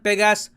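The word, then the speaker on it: Pégase: और इसलिए recently France ने लॉन्च किया मिशन पेगास 22। इसको आप पेगास भी कह सकते हैं, पेगासी भी कह सकते हैं। फ्रेंच और इंग्लिश में दोनों आपको अलग प्रोनाउंसिएशन मिलेगी।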